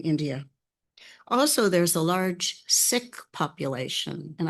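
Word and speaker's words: Sikh: Also, there's a large sick population and I'm saying it as sick because I went to the city council meeting Tuesday night and the siks I used to say sik but the six were there and they pronounced it sik.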